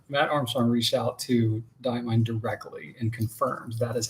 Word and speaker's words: Diamine: I'm pretty sure we're still mispronouncing diamine and Coeco. It's diamine. See? It is diamine.